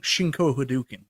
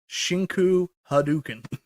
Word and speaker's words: Shinku Hadouken: Shinko Hadouken. That's not really how it's said. So you can pronounce it properly for me. Can you wait before you do that, Mike? Yeah. Mike B, please just say it one more time for us. Shinku Hadouken.